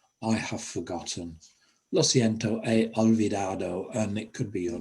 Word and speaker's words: he olvidado: Don't pronounce the H, it's not he or he olvidado, he olvidado.